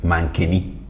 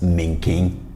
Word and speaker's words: mankeni: And then we have cocoyam as mankeni. Mankeni. Mankeni. If you are in Kumasi, you would mostly hear this pronounced as menken.